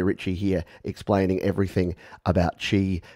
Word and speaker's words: Qi: and that was called Chi spelled Qi but pronounced Chi and apparently that's the